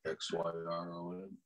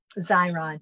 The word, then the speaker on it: Xyron: now before I do this one atg to pronounce right x y r o n xyron xyron that's what I thought it was yep